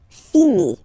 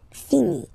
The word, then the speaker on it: finit: Il, elle finit. So it, final t not pronounced. Il, elle finit.